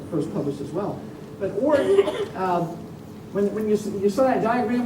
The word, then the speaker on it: Oort: You pronounce that properly. Oort cloud, yes.